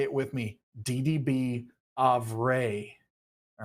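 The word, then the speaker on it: Avrae: It is not Avrai or Avrai or anything else. It is DDB Avray is what we've landed on because the community has spoken as to how you've pronounced that for all these years.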